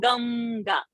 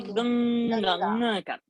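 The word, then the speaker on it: गङ्गा: We don't say Ganga. We say Ganga. Okay. So now this is the rule. What alphabet is coming after Anuswara? The previous Anuswara takes that varga's Anunasika to pronounce.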